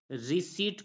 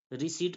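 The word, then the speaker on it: receipt: क्या पढ़ेंगे कंटेंप्ट पढ़ेंगे उसी प्रकार नेक्स्ट वड है आर ई सीई आई पी टी तो यहां पर भी पी के बाद टी आ रहा है तो यहां पर प साइलेंट हो जाएगा तो आरई सी ई आई पी टी को हम पढ़ेंगे रिसी पढ़ेंगे क्या पढ़ेंगे रिसी पढ़ेंगे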